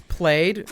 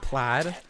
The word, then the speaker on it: plaid: I pronounce played as well played instead of plaid because I think plaid sounds stupid even though that's the actual way you say it.